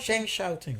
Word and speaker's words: Shen Xiaoting: SHEN XIAOTIng, I think that's how you say her name. Because the X's in Chinese are Xia. Sha. Yeah. Sha.